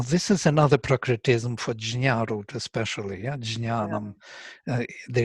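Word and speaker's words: ज्ञ: Well, you know, if you are pronouncing nya, some people pronounce it shnya, so they almost have that j in there, shnya. Yeah, jnya is correct, but it's a combination j and nya, jnya.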